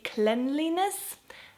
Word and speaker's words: cleanliness: and and I think we all know how to pronounce the word clean but in this word as a noun it's actually cleanliness again I do not know